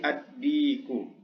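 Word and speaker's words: الديك: Kemudian contoh yang lain adalah dikun. Dikun itu artinya adalah ayam jantan. Ya, kalau dimasuki alif lam maka menjadi addiku. Addiku, ya. Begitu cara membacanya.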